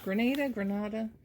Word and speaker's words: Grenada: Grenada. Yeah. Grenada. Like tomato.